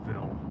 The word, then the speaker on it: Somerville: Yeah, this lake right here, folks, is Lake Somerville. Not spelled like the season summer, spelled differently, but pronounced the same. It's Somerville.